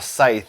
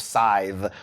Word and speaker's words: Scythe: whole thing about how we were pronouncing scythe as a site instead of scythe listen we already had